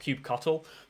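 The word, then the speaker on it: kubectl: someone on twitter decided that cube ctl was pronounced cube cuttlefish as it was cube cuttle um and so the cuttlefish became the mascot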